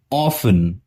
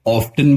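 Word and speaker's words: often: Camel, ऑफन, या आप इसे ऑफ्टन भी बोल सकते हो, ऑफन भी बोल सकते हो, दोनों तरीके सही है।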